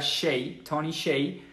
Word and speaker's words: Hsieh: presente de tony 6 el apellido se escribe poco raro hs y se pronuncia 66 y el libro se